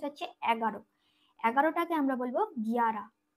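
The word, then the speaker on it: ग्यारह: 11টাকে আমরা বলবো গিয়ারা, গয় জফলা আকার র আর হ, গিয়ারা। 11টাকে বলবো গিয়ারা।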